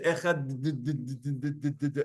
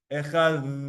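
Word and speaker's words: אחד: It's like a TH, but it's not really a TH, it's like a DH. Now you could say Echad.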